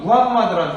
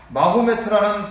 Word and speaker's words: 무함마드: 여기에서 상인으로 활동하던 이 무함마드라는 사람이 만들었다라고 알려져 있습니다. 빈칸에 무함마드 써보세요. 동그라미 1번에 무함마드. 옛날에 선생님 어렸을 때는 마호메트라고 배웠는데요. 마호메트라는 발음보다는 무함마드가 좀 더 현지 언어에 더 적합하다, 네, 좀 더 가깝다라고 해가지고요.